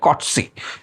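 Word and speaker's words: Coetzee: जे एम कॉट्स इसका उच्चारण बहुत जन गलत कर सकते हैं। इसलिए मैं बता दूं इसको कहा जाता है कॉट्स।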